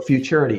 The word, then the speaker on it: futurity: What is futurity? Is it futurity? Did I pronounce it right? You did. So futurity.